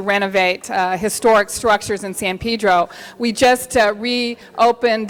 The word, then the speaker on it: San Pedro: Perry's assistant said you're right Miss holness it's San Pedro so I don't want to say anything wrong